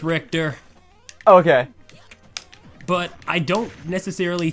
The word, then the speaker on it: Richter: Do you main Richter or Richter, however his name is pronounced? It's Richter.